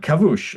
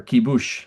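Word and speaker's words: כיבוש: Um those kind of and kavush or kibush depending on how you think it's pronounced. Um I think kibush might be right actually but it's the uh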